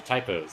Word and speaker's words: Tyops: them we're using relief pronouncing it the way you would normally pronounce the word just spelled wrong so the pronunciation still intact it's a typos it's still correct okay